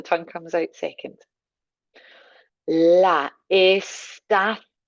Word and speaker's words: estación: La estación. So the th for the C, the accent up on the O, la estación.